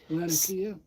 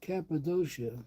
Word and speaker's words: Cappadocia: Latakia? What'd you say? Latakia? Nope. Almost. Cappadocia. Cappadocia. Cappadocia. That's in Turkey.